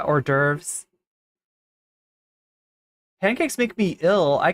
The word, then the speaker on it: hors d'oeuvres: I know Sasha G thinks I'm gonna say horse divorce, but yeah, hors d'oeuvres.